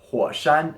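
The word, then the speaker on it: 火山: Mountain any guesses what it means it's volcanoes hua Shan is volcanoes at number 12 we have this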